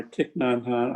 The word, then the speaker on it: Thich Nhat Hanh: Yeah, right now I'm reading a book, Living Buddha, Living Christ by Thich Nhat Hanh. I think that's the way it's pronounced.